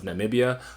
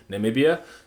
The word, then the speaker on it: Namibia: I've noticed a lot of Americans have trouble mispronouncing Namibia, and so, yeah, it's 4 syllables, and I hope you guys get that.